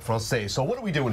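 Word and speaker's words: Française: You told me I could pronounce it you one or two. You can say francaise. All right, francaise.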